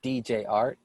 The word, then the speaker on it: DJ Art: name is jared aka dj art uh the d is silent so it's just jart well my name is